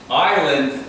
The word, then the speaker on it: Island: There's no S in the pronunciation. Island is the correct spelling.